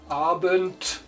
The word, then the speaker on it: Abend: In final position, D sounds like a T, like in Hund, dog, Abend, evening. E, you have to speak it deep, like elephant, in Deutsch Elefant, Ente, like duck.